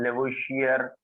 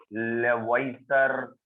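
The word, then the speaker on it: Lavoisier: Father of chemistry, जिसे हम लेवोइशियर या लेवॉइसर, जो चाहे प्रोनाउंसिएट कर दें, तो फादर ऑफ केमिस्ट्री लेवोइशियर और लेवोइसर ने ये लॉ दिया था।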